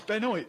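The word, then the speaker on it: Benoit: is is is a definitely not Beno it's Beno sorry um mispronouncing f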